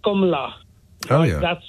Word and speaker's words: Kamala: It was comma, as in the punctuation, followed by la. Which is very counterintuitive because it's all A's. K-A-M-A-L-A is pronounced O's.